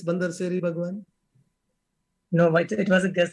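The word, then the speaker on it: Bandar Seri Begawan: It's Bandar Seri Bhagwan, not Bandar. Bandar Seri Bhagwan, I believe the pronunciation.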